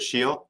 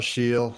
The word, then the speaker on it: Scheel: is it Shield? Am I pronouncing that right? You are correct. Hi, everyone. Scheel.